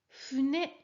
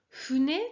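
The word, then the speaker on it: ふね: Expire bien le H. Hein. Je dois le H qu'on l'on retranscrit avec un F en caractère romain. Donc, Fune, tu dois sentir l'expiration sur ta main pour la prononciation du fou.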